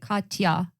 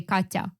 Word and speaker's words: Katya: pronounce so my name so usually people say like Katya because it's difficult to say Katya yeah well you also